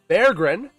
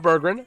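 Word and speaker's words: Berggren: Bergrren, not Bergen.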